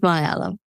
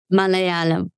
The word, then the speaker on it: Malayalam: I speak Malayalam. Malayalam. Okay. Well, it's hard. Say it again. Say it again. Malayalam. Malayalam.